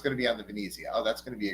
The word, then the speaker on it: Venezia: Hill's post earlier today he actually said pronounced Venezia the way Venice is pronounced in Italian so yes pork roll